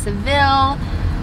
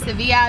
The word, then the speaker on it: Sevilla: sevilla also known as seville i feel like people have said it a few other ways but we're trying to say it sevilla because i'm pretty sure that's how you pronounce it in spanish so it is like